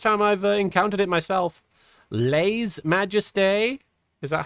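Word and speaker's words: lèse-majesté: The channel said as Le Majesty. Le's Majesty. Okay. Le Majeste.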